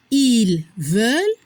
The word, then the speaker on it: ils veulent: La prononciación ils veulent, elles veulent. No se pronuncia la S y tampoco no se pronuncia ENT.